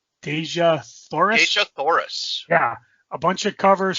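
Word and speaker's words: Dejah Thoris: Deja Thoris.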